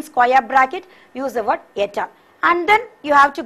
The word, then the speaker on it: et al: and within square bracket use the word ETAL, which is pronounced as et al. Et al means it's nothing but and others. It's et al is a French word.